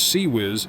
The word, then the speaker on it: CIWS: The close-in weapon system, known as CIWS, and pronounced SE- whiz, is a lastditch defense against incoming missiles and aircraft.